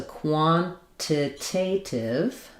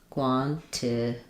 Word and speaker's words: quantitative: Then same thing happens with quantitative. Um, so quantitative two t's quantitative. So I'm either going to do quantitative this one gets flapped or quantitative.